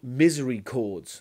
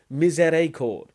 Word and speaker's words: miséricorde: They're not called misery chords, as you pronounce it. They're called miséricorde, which is the French word for mercy.